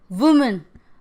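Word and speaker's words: women: torch light focus का होगा वह सा ए वूमेन ब्लंडर मिस्टेक करते हैं स्टूडेंट वूमन का ए वूमेन ही बोलते हैं लेकिन स्पेलिंग में man1 जगह एमवे ठीक है लेकिन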